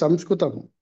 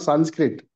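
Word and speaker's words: संस्कृतम्: It is Samskritam. It is not Sanskrit. Samskritam.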